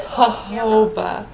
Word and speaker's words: jojoba: And it's jojoba. Huhow, pronounced like that.